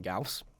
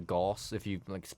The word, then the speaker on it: Gauss: Yeah, you may as well call it Gauze at that point.